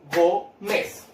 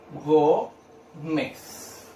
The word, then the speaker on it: Gómez: Separo en 2 sílabas. ¿Dónde se carga la voz? En go. ¿Cuál sería? Penúltima sílaba, ¿cierto? ¿Y qué me dice las palabras donde yo cargo las penúltimas sílabas? Sería una palabra grave, ¿ya? Y tengo que tildar si cuando termina en cualquier consonante menos en ese vocal. En este caso termina en Z, por lo tanto, sí voy a tildar la palabra Gómez.